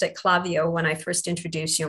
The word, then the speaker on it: Klaviyo: about clavio is that it's a learning tool um clavio